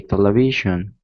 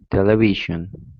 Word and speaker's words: television: for a few words native english speakers don't always agree on where to put the stress for example some people say television and others say television another example is con controversy and controversy all right and this usually is the difference between british english and american english so for instance television is the way americans say the word and television is